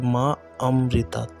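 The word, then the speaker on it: মামৃতাৎ: উচ্চারণ করতে হবে যে মা অমৃতাত মা থামবেন তারপরে অমৃতাত এই কথাটা বলবেন তারপরে এটা বলার পর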